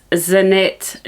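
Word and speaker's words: Zanete: have talked to you about before and it's zanet nits it's spelled z a n e t e um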